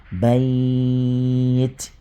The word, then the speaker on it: بَيْت: C'est comme ça que c'est écrit, mais voilà comment on prononce. Bayt. Tu mets sukun à la fin, parce que tu veux t'arrêter dessus là. Bayt.